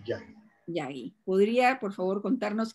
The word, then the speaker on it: Yagi: ¿Es Yagui o Yagi? ¿Cómo se pronuncia? Yagi, Yagi.